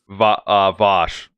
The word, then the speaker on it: Vaush: Vaush? Vaush. Vaush. Wow, that's really impressive. Yeah, that's a meme within his community. A lot of people come on and debate him and like call him Vaush or Vaush or whatever.